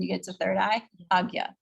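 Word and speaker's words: Ajna: So like Agya chakra, like this one, when you get to third eye, Agya, right? This is Agya chakra. Or Nya. You'll sometimes see Nya.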